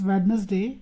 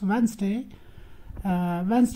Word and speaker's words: Wednesday: will be no classwork on Wednesday many people mispronounce it as Badness day it is not Wednesday it is Wednesday evening I shall be there on my birthday